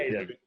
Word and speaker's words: Caden: It's Caden Neville, mate. It's pretty simple. Caden. 2 syllables.